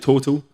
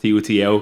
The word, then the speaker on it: TOTL: The name, it looks like Total, but it's pronounced TOTL because it stands for top of the lane.